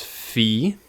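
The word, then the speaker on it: phi: fee again fee and this letter is you could say like an F I it's probably more correct to say a pH but you know they've pronounced the same way it's the same sound so yeah sort of that like like pH in photo next is he again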